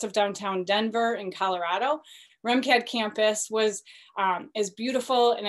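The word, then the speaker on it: RMCAD: college of art and design also known as remcad pronounced r-e-m-c-a-d so these slides are filled with lots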